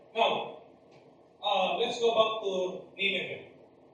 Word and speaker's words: Nineveh: Now, let's go back to Nineveh. Actually, this is pronounced Nineveh. It is pronounced Nineveh, not Nineveh.